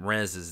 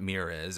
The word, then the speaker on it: Mrez: I'll add any extra apostrophes because you're actually doing Mrez's name wrong. It's not Mirez or Imrez. It's Mrez.